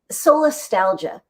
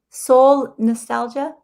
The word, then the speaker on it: solastalgia: Solastalgia. Soul nostalgia? Solastalgia. S-O-L.